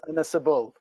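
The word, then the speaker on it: Ynysybwl: Enos Ebol. No, say that one again, please. Enos Ebol. The last bit's not too bad. So the first one is Tonarevol. Okay. And the second one is Inisabul.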